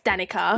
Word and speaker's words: Danica: there was not sean it's not danika it's danica yeah yeah can you